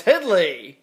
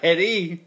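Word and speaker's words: Hedley: That's Headley, not Hedy. Hedy Lamarr. No, it's Headley.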